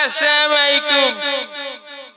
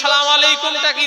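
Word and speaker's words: السلام عليكم: হ্যা সালাম আছে কোথায় আবার যদিও সালাম দেয় আসসালামু আলাইকুম আসসালামু আলাইকুম আসসালামু আলাইকুম আসসালামু আলাইকুম এটাও উচ্চারণ করতে পারেনি। আর বর্তমানে বেশিরভাগ লোক সালামু আলাইকুমটাকেই ধরে নিয়েছে।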